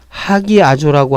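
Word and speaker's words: ἁγιάζω: 자, 하기아조라고 하는 것은 스트롱 번호 37번인데요. 거룩하다. 네, 거룩하다라는 뜻입니다. 원래 이 단어가요. 자, 알파인데 강기식이 있기 때문에 아라고 하지 않고 하라고 읽는 거죠.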